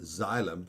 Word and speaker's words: xylem: x and it's pronounced xylem so it sounds like a z so t v w